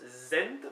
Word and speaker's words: sent: Sent qui s'écrit S-E-N-T mais qui se prononce Zent pour saint.